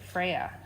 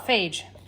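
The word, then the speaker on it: Fage: It's this, they say to pronounce it Freya. Feya. Feya. Feya. Feya. I call it phage, but it's really not.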